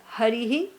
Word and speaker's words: Harihi: That ending sound is so important.